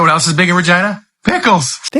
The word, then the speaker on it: Regina: Regina. That's right. It's the city that rhymes with fun.